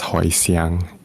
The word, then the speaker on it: Hoisan: taishan county is taichung this is also pronounced as hoisiang in taishanese if that might ring